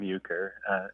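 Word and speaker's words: Euchre: was called ukur figs so this is spelled just like the card game uker and that caught my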